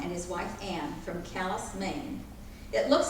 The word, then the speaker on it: Calais: the children of Captain Vaughn and his wife Ann from callus Maine it looks like Calais you know how